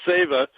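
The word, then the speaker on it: seva: this weekend it's spelled se va but it's pronounced saver is the Sanskrit word that means service to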